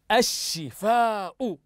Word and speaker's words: الشفاء: احسنتم وبارك الله فيكم انها اللام الشمسيه التي تكتب ولا تنطق هيا اقراوا هذه الكلمه مره اخرى احسنتم الشفاء الشفاء لاحظوا معي سنكتب